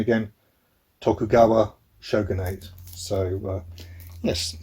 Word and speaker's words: Tokugawa: set during the i should get checked my pronunciation again tokugawa shogunate so yes not nice things happened in